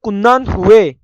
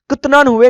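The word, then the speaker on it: 끝난 후: अच्छा, ये जो नीचे आता है ना ते की आवाज वाला, इसको आपने साइलेंट कर देना है। कुन्नन हुए, कुतनन हुए नहीं कहना इसको, इसको क्या कहना है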